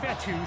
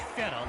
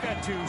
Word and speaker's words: Fetu: So Coach Fetu spelled F-E-T-U for the longest time. I was pronouncing it Coach Feta, like feta cheese.